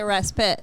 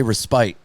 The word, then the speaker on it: respite: Some people pronounce it respite. Some people say respite.